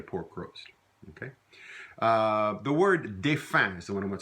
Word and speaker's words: défunt: Défunt, we pronounce it défunt, not défunt, défunt. Very often the becomes an un sound in Louisiana French.